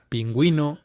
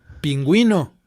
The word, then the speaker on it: pingüino: তো আপনারা দেখতে পাচ্ছেন যে যখন GUI আসছে তখন গিতারা, গেরডা, তো এখানে ইউ এর উচ্চারণটা কিন্তু আলাদা করে হচ্ছে না। কিন্তু যখনই পিঙ্গুইনো, পিঙ্গুইনো, তখন কিন্তু ইউ এর উচ্চারণটা আসছে। El pingüino toca la guitarra